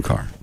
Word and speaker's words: Kerr: I know it's spelled Kerr, but it's car.